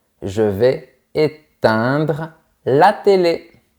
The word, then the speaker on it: éteindre: Encore une fois, on a les lettres E-I-N. Donc, tu dois penser à un rectangle horizontal dans ta bouche.